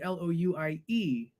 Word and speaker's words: Louis: I pronounce it Louis. So my name is actually Louie.